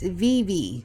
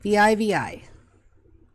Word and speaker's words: Vivi: Sorry, it's Vivi. V-I-V-I.